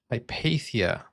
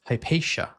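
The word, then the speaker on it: Hypatia: Hipathia, sorry, Hipatia.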